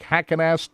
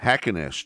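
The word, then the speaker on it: Heckenast: How do you pronounce that last guy? That guy third. Frank Hackenast Jr. Hackenast Jr.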